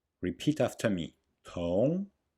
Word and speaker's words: 同: Note the small explosion of air in 同. Repeat after me. 同同 In 学, the S sound is pronounced with the dorsum of the tongue.